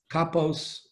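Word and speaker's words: כפות: Then the Gemara says, Tanya Rabbi Shmuel Omer, Pri Eitz Hadar, Echad, Kapos Tmarim, Echad. The diuk is that it says kapos, but it's spelled kapas, without a vav.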